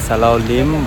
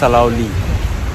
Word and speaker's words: Salaulim: Sala Dam uh so if you Google you will find it as Sala Lim but the locals say it's saloi it's around 40 km